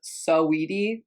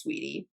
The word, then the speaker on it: Saweetie: My dog's name is people think that my dog's name is Saweetie, and that's not. It's just pronounced Sweetie. It's spelled Saweetie.